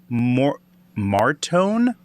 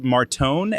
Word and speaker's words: Martone: of people believe it is a winger, Porter Martin. I'm bad with last names. If you haven't paid attention, or is it? No, I think it's. I don't know how to pronounce it. Martone, Martone.